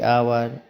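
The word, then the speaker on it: hour: हो पा रहा है फिर यहां पे देखना है कि आवर आवर में देखोगे ओ ओ से पहले एच आ गया है तो यहां पे एच का प्रोनंसिएशन नहीं हो पा रहा है आवर पढ रहे हैं फिर देखो यहां पे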